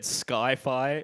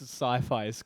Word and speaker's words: sci-fi: did you see Skyfire I said Skyfire as in the film genre Maxo pronounced sci-fi science science fiction it's not sky but it's in the